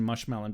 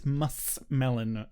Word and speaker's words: muskmelon: I really hate the pronunciation mushmelon, but my grandpa always used that. And I was like, it's muskmelon, grandpa. It is muskmelon.